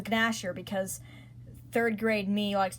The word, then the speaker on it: Gnasher: It's pronounced Gnasher because 3rd grade me likes to pronounce things incorrectly.